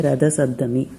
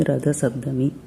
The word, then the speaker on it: ரத சப்தமி: ரொம்ப பிடிச்சிருக்குன்னு போது மறக்காம கமெண்ட்ஸ்ல சொல்லுங்க சப்தமி சப்தமி ரத சப்தமி சப்தமி சப்தமி ரத சப்தமி சப்தமி சப்தமி ரத சப்தமி சோ இத நீங்க தொடர்ந்து உச்சரிங்க